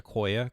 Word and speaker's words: IQOYA: It's pronounced IQOYA, crosslink, and SERV.